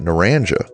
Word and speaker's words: Naranja: Locals often say it like “na-RAN-jah,” and the name recalls the grove era that once defined this part of the country.